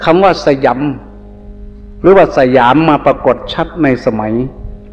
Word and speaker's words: สยาม: ว่า ประเทศ สยาม พ ภาษา สันสกฤต ว่า สยำ บาลี ว่า สยัง พอ ออก เสียง เป็น ไทย ว่า สยาม เรา จะ เห็น จารึก